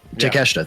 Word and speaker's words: Takeshita: Takeshita, thank you.